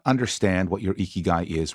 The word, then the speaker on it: ikigai: a bright grin and start with the sound e as in we or free the Japanese pronounce the letter i as e since there are three I's in igai then to pronounce the word properly you say eeky guy with a smile the second thing you